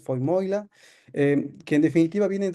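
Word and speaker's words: Vermeule: Harvard que es Adrián lo voy a pronunciar en alemán es fo moila eh que En definitiva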